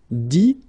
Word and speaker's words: dit: Okay, dire, I-R-E as well, will give you dit, same thing here, I-T, but then you pronounce it I, okay.